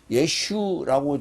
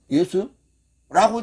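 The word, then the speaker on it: ישו: 그러니까 우리 한국 사람 입장에서는 예슈라고 지금 그 사람들이 하니까 어 예수라고 지금 착각을 하고 듣는 거예요. 그럼 그들은 예슈라고 바르면 근데 우리는 예수라고 바람 그 비슷하잖아. 아 이게 히브리로 발음하면 그렇게 되나 보다.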